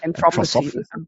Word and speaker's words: Anthroposophy: It says here the Austrian theosophist and later founder of how do you pronounce it in English? Anthroposophy.